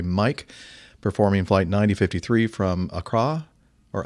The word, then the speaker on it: Accra: Sierra Sierra x-ray mic performing flight 9053 from Accra or Acra how do you say that Accra okay Ghana to Johannesburg South Africa with 184